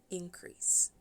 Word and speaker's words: increase: Na primjer, rast, ekspanzija nečega, kao imenica kaže se increase. Increase. Prvi slog je akcentovan, in, drugi, crease, nije.